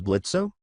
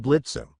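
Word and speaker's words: Blitzø: I think his name is Blitzo? Yeah, he says the O is silent.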